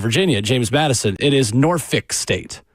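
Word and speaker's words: Norfolk: James Madison it is Nori State not norol there is no l it is noric is how you say it really yeah so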